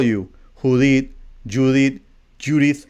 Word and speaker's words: Judith: the point Judy but it's with th at the end so it's Judith that's how you pronounce